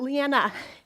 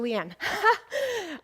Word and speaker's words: Leanne: to see you or is it Leanna no Leanne I'm very particular about